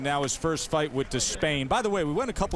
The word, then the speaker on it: Despaigne: So that's what we go with, Despain.